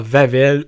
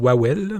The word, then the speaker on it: Wawel: légende du dragon de c'est w je pense c'est genre vavel ou on on va dire wawel mais je pense c'est plus ça se prononce plus vavel ouais wawel ça doit être